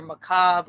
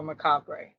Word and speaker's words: Macabre: Like, I could pronounce it however the hell I want to, but the proper way is either Macabre or Macabre, either or.